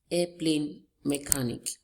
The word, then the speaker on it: airplane mechanic: Airplane mechanic. Can you see it? Our stress is on the first word, air.